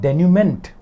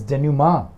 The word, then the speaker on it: denouement: that it is meant it's not denument it's genuma and the noun is